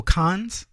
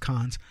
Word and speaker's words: Cannes: in the film festival Khan's Cannes whatever you want to call it but it's pronounced cons and it sits in